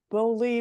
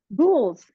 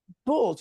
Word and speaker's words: boules: Okay, so can you use your English muffin mix to make, how do you say the word, bully loaves? Boules. Bulls, yes. Yes, yes.